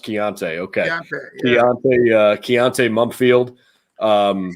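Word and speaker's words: Konata: georgia area is it kanata mumfield is that how you say his name no it's kiante i'm sorry chianti yeah k-o-n-a-t-a pronounced chianti okay uh keonta mumpfield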